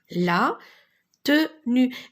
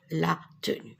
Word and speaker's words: tenue: Et regardez cette lettre, je ne la prononce pas, elle est muette. Alors quand je dis muette, ça veut dire je ne l'entends pas, mais je l'écris, la tenue.